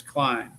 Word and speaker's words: Klein: E and I like my name last name is Klein and K L E I N. So the I is pronounced not the E.